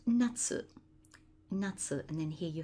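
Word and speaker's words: 夏: that begins with this character here meaning summer pronounced Natsu Natsu and then here you have the break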